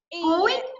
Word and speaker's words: ruim: Lembra quando a gente estudou ortoep e prosódia que a gente viu que a pronúncia correta é ruim?